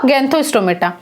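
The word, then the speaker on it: Gnathostomata: देखिए यहाँ पे जी साइलेंट रहेगा, तो यहाँ पर इसका जो उच्चारण होगा वो क्या होगा, गैंथोस्टोमेटा।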